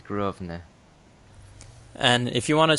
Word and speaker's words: Grosvenor: Yeah, you don't say the S. That place, Grosvenor. Yeah, I believe it's Grosvenor.